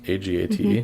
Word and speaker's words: agate: the fluid pattern of agate stone. I think that's how it's pronounced. A-G-A-T-E. Mm-hmm. It's agate.